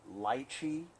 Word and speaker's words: lychee: what lychees are or actually how the English pronounce it light key you guys live in